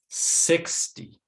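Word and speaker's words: sixty: end of the word then we stress the first syllable 60. 20 40. so what we're hearing here is that that first syllable the 6 gets a lot of stress but then the second syllable d is quieter 60 also in american english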